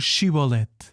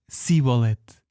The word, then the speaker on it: Shibolet: Então diziam-lhe: "Pois então diz, por favor, Shibolet". Ele, porém, dizia: "Sibolete, porque não era capaz de pronunciar corretamente." Então, prendiam-no e degolavam-no junto aos do Jordão.